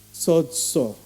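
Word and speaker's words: σῴζω: ibig sabihin po niyan sa Greek word ay sods everybody say sods Hwag niyo pong bibig ng Tagalog no ang Greek ah pronunciation po niyan Ay sods sods Anong ibig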